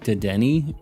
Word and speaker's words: Dedenne: It's Dedenne.